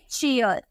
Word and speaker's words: cheer: उसी तरह से अगर हमें लिखना हो CHEER, CHEER, आपको सी के बाद एच देखने को मिला ना तो इसका हम प्रोनाउंसिएशन क्या करेंगे, चौ में करेंगे, बोलेंगे चीयर, ठीक है, चीयर अप हम